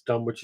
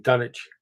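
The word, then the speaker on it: Dunwich: good B it also why does everybody just mispronounce Dum which it should be pronounced like Grenich i. E dunich Yeah but dun doesn't sound as good as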